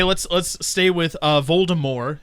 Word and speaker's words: Voldemort: harry potter series baltimore voldemort yeah without t yes she announced at one point that it's actually pronounced voldemort as in like the french way to say it it literally means death